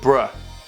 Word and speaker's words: bruh: Is it brew or is it bruh? Can you let me know? Someone leave a comment. B-R-U-H. Do you pronounce that bruh or brew?